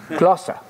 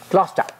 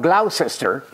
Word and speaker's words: Gloucester: of the Crypt school at plough sister no Gloucester Gloucester Gloucester not Glau sister not war sister Worcester British people are very